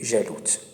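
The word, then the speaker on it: جالوت: Donc Daoud a tué Jalout. Je crois en français, ils disent Goliath. Goliath, c'est comme ça qu'il prononce son nom en français. En arabe, c'est jalou.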